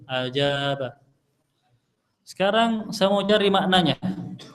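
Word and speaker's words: أجاب: saya sudah tahu bacanya hamzahnya hamzahnya fathah jimnya fathah bnya fat Fath alifnya sukun ajaba Sekarang saya mau cari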